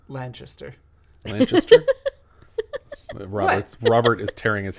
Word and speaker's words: Lanchester: This was the final film of Elsa Lanchester. Or is it pronounced Lancaster? I would say, well, since she's English, it might be Lanchester.